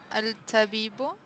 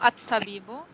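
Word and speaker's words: الطبيب: Al-tabibu? No, at-tabibu.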